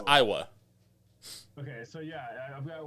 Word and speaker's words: Aiwa: Yeah, it's Iowa.